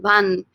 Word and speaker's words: van: Please don't say van, guys. It is not van. It is van. Use your Spanish syllables, your Spanish vowel sounds.